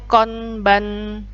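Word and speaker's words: こんばんは: Nah, itu tulisannya konbanwa. Penulisannya huruf H ya, tapi bacanya wa.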